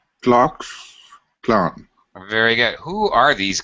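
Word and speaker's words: Klux Klan: right um do you should not say the clue cluck Clan although everybody does yeah it actually is go clock Clan very good who are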